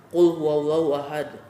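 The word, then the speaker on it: قل هو الله أحد: misal di surat al-ikhlas Qul huwallahu Ahad bukan kullaha dkal kita membacanya kulhu allohu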